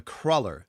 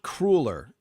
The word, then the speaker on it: cruller: Cruller, not crueler. Okay, Maureen, I forget already. Where do you live, Maureen? That's how we pronounce it. I believe that is the correct way. The other way is called the wrong way.